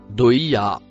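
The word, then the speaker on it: ضحاها: Le dernier mot, marron-noir, se prononce doïa.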